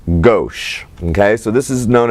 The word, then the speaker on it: gauche: This has its own name as well, while it is spelled G-A-U-C-H, it is pronounced gauche.